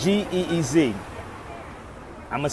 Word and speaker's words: Ge'ez: It's G-E-E-Z. I'm going to spell it for y'all again.